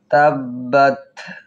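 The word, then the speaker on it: تبت: তাব্বাত তাব্বাত তাব্বাত তার উপর সাকিন করে একটু চেপে ধরবো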